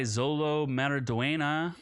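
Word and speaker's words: Xolo Maridueña: well uh the critic consensus is led by Zolo maraduena I finally learned how to pronounce his name magnetic performance in the title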